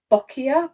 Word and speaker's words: boccia: forwards next we have i think it's pronounced bokia boccia b-o-c-c-i-a for those who want to have a go pronouncing it so we are going to